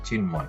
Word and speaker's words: চিন্ময়: এখানে ন এর সাথে মটা যুক্ত হয়েছে এবং এই মটা উচ্চারণ হয়েছে চিন্ময় বাল্মীকি এখানে ল এর